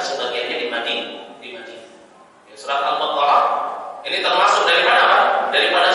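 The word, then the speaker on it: البقرة: Kalau diwaqaf bacanya apa? Al-Baqarah.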